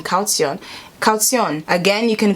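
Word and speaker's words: Kaution: how google pronounces it calcium it kind of extends the tion i was saying calcium calcium again you can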